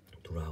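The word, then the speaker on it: drought: ただスペルね、ドロウトと書いてドラウトだからね。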